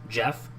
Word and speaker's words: GIF: Did you call it a GIF? A GIF. It's pronounced Jeff.